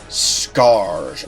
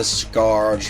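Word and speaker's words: Skaarj: cruel and thoroughly technological Skarrge race. I think that's how it's pronounced, s k a a r j, which has invaded the planet and is pillaging everything it can get its hands on.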